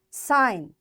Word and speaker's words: sign: design g is silent sign g is silent clone g is silent